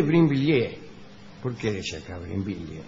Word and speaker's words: Brinvilliers: María Magdalena d'Auvray, más tarde marquesa de Brinville, nació, es de Brinvilliers.